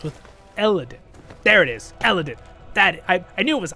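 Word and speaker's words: Elendil: There it is, Eladin.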